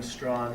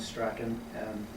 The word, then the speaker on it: Strachan: As many of you know, there are two legitimate and proper pronunciations of the surname, those being Strawn and Strachan.